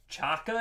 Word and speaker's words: Xhaka: z so i'm thinking xhaka switzerland greg a you want the bricks bricks are yours we have mad bricks bricks on deck chaka it's pronounced that's not a z really chaka julian baumgartlinger what